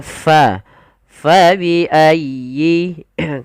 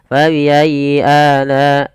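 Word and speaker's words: فبأي: Ya bertasdid itu ada lembut di dalam pelafalannya tekan ayyi fayyi. Dan sempurnakan kasrah pada huruf ya. Jangan fabiayi tidak disempurnakan kasrahnya. Kita harus menyempurnakan daripada bunyi kasrahnya.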